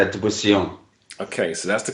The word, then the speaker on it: Dubisson: It's Dubussion. Okay, so that's the correct pronunciation.